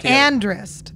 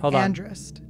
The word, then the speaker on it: Andrist: Andrist. That's how you say it. Andrist.